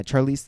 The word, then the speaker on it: Charlize: Charlize. Have you really not heard her name? Yeah, Charlize Theron. Charlize Theron. Charlize Theron. That's what I said. You said Charlize? No fucking way. No fucking way. Charlize?